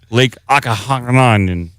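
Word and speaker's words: Okanagan: British Columbia coast, or the Ogopogo of Lake Akahanan. That's how it's pronounced.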